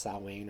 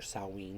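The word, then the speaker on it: Samhain: is saline it's spelled Sam Hayne but it's pronounced salwain or salween depending on your dialect I guess This Is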